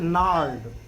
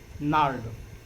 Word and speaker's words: gnarled: यहाँ दो word silent है, जी और आर। उच्चारण क्या हो जाएगा, नार्ड। उच्चारण क्या होगा इसका बच्चों, नार्ड, GNARLD।